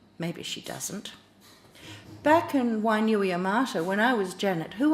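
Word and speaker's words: Wainuiomata: Wainui Amata, you said, where's that? Across the water, straight on till morning. Did I say it right? You did.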